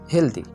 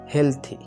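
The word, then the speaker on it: healthy: তো এইটা যদি আমরা সঠিকভাবে উচ্চারণ করি তাহলে এটা সঠিক উচ্চারণ করা হবে, এর মানে সেটা সঠিক উচ্চারণ হবে হেলথি।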